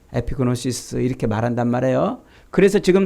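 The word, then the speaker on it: ἐπίγνωσις: 에피그노시스라고 이렇게 발음을 하는데 이 말이 구약성경 창세기 4장 1절에 가면은요, 아담과 하와가 동침했다.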